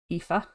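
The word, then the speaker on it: Aoife: so he decided to marry a woman named epha let me draw in epha this is how you spell epha um in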